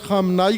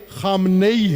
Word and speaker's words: خامنئی: لبیک یا حسین است۔ یہ پاکستانی تلفظ خامنائی کرتے ہیں، خامنئی ہے، خامنئی، خامنے شہر کا نام ہے، اس شہر سے تعلق رکھنے والے کا نام خامنئی ہے، خامنہ نہیں ہے، خامنے، خامنے، خامنئی، سب بولو خامنئی، خامنئی، لبیک خامنئی